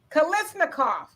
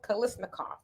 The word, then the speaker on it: Kalashnikov: Kalashnikov. It's not said how it's spelled. Kalashnikov.